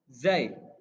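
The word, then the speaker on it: ز: Nah, selanjutnya ada huruf zai. Zai. Kalau tadi dal itu digigit, dal. Kalau zai nggak digigit ya, dia ada di belakang gigi. Zai di langit lidahnya di langit-langit atas, di langit-langit atas. Zai.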